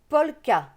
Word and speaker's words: polka: À côté, on a le mot polka. Polka, le K se prononce que.